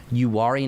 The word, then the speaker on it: Uwharrie: say this, so correct me if I'm wrong, Uwharrie National Forest, is that how you say it? Yeah. Yeah, so the Uwharrie National Forest, since they do have some higher